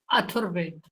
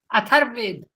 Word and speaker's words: अथर्ववेद: चौथा क्या बोला है अथर्ववेद स्पेलिंग बोलो आ फिर था और व के ऊपर र तो इसको क्लियर बोला करो क्लियर नहीं है अथर्व अथर्व वेद अथर्व क्लियर नहीं था इसलिए मैंने बार-बार पूछा